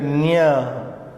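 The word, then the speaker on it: ञ: Then we move to the unaspirated nya. This is also a very tricky letter. Unless it is with some other sound, we cannot rightly know its pronunciation. Like in N-I in onion, something like that. The American linguists have given this example, onion. It should be pronounced like onion.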